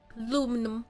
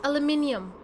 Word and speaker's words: aluminium: somebody just got sick of some aluminum foil aluminum Alum say it again aluminum make sure you take the out the power plant she's she has trouble pronouncing words correctly it's pronounced aluminium aluminum is not the word for it aluminum